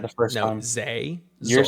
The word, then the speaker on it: Sehnsucht: Zay. You're saying it wrong now. No, I'm not. Sehnsucht. Sehnsucht. Pronounce your S's as Z's.